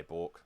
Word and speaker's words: balk: they pronounce it but we say bork like chalk bork um walk same thing it's b-a-l-k and the ruling is